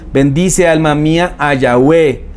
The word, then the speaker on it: Yahweh: O si quieren ponga la pronunciación, Yahweh. Algunos dicen Yahvé, ¿sí?